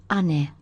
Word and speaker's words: 姉: It's pronounced ane.